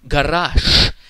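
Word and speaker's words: гараж: The word in Russian for garage is pronounced garash, even though it is written garage with this word final voiced consonant. Correct Russian pronunciation is garash, because the word final voiced consonant zh gets changed when pronounced to sh.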